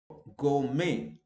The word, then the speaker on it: gourmet: Okay, gourmet. I have written the pronunciation. You know, French gourmet. Okay, you go to a restaurant and so on, and then you enjoy it. Okay, so gourmet, T is silent.